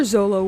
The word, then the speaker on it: Zoro: Or Zolo, wherever. I read it as Zolo because it's spelled as Z-O-L-O on Viz Media, but on the anime I think they say Zoro.